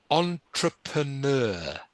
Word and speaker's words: entrepreneur: an entrepreneur ah yeah entrepreneur can you say that entrepreneur entrepreneur good french word as you probably know it's a French word entrepreneur can you try